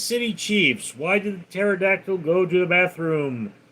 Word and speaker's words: pterodactyl: Why did the pterodactyl go to the bathroom? The P is silent.